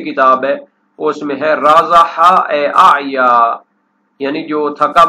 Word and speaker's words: رازح: ابن فارس رازح اعیا، ایک تو اس کی پروننسیشن اور تلفظ بیان کر دیا کہ شروع میں را ہے، پھر اس کے بعد الف کے بعد زا ہے اور آخر میں ہا ہے، خا نہیں ہے، رازح۔ یہ وہ گھوڑا ہوتا